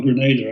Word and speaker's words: Grenada: the british agent in granada or grenada i think it's pronounced and owned plantations in